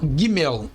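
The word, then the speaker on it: גימל: consoante do hebraico e se chama guimel o guimel podemos encontrar em outras fontes seu nome como sendo guimel ou Guimê contudo a pronúncia correta é de mel com o g duro como na palavra gato e a forma simplificada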